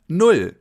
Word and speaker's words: null: our first number, 0, or in German, null. Null. Almost like the English nil that you know from sports like soccer for example. Null.